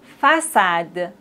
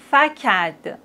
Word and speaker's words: façade: Mais s'il n'y a pas de cédille, on doit les prononcer comme ça. Franquet, garcon, facade, décu. Mais on a la cédille, donc on doit dire français, garçon, façade, déçu.